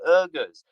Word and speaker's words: Uyghurs: Uyghurs. Yes, yeah. I'm sorry if I'm mispronouncing it. Yeah. No, you're not mispronouncing it. It's just a language difference.